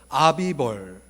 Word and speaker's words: 아빕월: 그래서 16장 1절에 보면 아빕월, 이 발음하기가 좀 어려운데요. 아비벌.